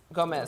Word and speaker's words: Gomez: Is it Gomez? Okay. Gomez, okay.